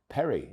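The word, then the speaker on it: Perri: Perry. Easy, you would think, but think again. The Rs in certain parts of Brazil are said as H's.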